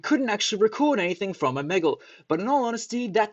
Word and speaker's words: Omegle: And before you cringe at my pronunciation, it is in fact Omegle.